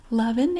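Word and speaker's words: L'oven: Mark on the F loving is spelled l apostrophe o v n so it's kind of like out of the oven loving fresh fresh from the oven it's just a little play on words and we will see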